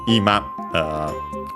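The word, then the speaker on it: 今: Ima is that means now, is accent on the first syllable.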